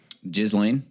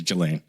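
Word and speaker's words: Ghislaine: you remember his partner jizan Jalan Maxwell now Jalan Maxwell jiz Lan is the way you pronounce it is it jizan I think it's gillain jiz Lan makes more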